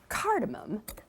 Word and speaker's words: cardamom: cardamom and combine those now cardamom and that's spelled with an M O M on the end cardamom is a member